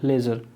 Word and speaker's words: leisure: है यहाँ पे देखो, यहाँ पे बोलने में तो लेज़र, ठीक है, ज का एक साउंड आता है, लेकिन यहाँ पे J या Z कहीं पे भी इस्तेमाल नहीं होता है।